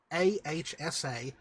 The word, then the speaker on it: Ahsa: It's Ahsa. And her last name, I've still not really fully decided how it would be pronounced.